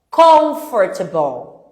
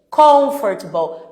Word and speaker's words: comfortable: Comigo você vai pôr um acento nessas palavras até você entender qual que é a sílaba forte, qual que é a sílaba tônica que a gente fala, né, Kelly?